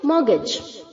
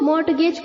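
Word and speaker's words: mortgage: निंग next है बच्चों मॉर्गेज मॉर्गेज बहुत सारे बच्चे इसको मॉर्टगेज प्रोनाउंस करते हैं गलत है बच्चों मॉर्गेज में जो टी है वो साइलेंट होता है टी को हम प्रोनाउंस नहीं करेंगे और जो जी ए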